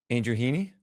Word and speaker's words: Andrew Heaney: Andrew Heaney?